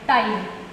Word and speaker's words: ptyalin: P-T-Y-L-I-N, ptyalin. Again pronunciation में P आपका यहाँ पे साइलेंट है, राइट?